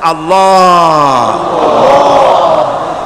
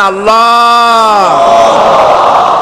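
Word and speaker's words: الله: পাকের নামের উচ্চারণ হচ্ছে আল্লাহ মুখটা একটু গোল হয়ে যাবে বলেন আল্লাহ আল্লাহ সুবহানাল্লাহ পৃথিবীতে বিভিন্ন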